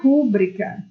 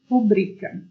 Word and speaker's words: rubrica: E a pronúncia não é rúbrica.